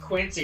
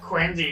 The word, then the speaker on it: Quincy: It's not pronounced Quinzy or it's not pronounced Quincy. It's pronounced Quinzy.